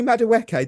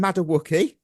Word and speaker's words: Madueke: I heard Nani Madueke the whole game become Madawuki.